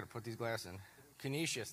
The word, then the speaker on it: Canisius: Canisius, that's how you say it. Canisius, and the fourth one is?